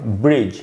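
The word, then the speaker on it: bridge: पहले डी है, तो इसको पढ़ा जाएगा ब्रिज, यहाँ पर डी साइलेंट हो गया, ब्रिज।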